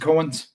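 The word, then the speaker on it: Coen: Liam, is it Cohen's? Is that how you pronounce it?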